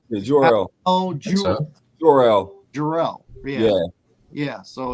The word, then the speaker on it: Jor-El: They obviously got Bradley Cooper to play Jarrell. Jarrell. What? How do you pronounce it? Is it wait? Hold on. It's Jarrell, right? Yeah, Jor-El.